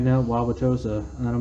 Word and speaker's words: Wauwatosa: And he's like, Wauwatosa. I'm like, no, Wauwatosa. And I'm like, pronounce that name.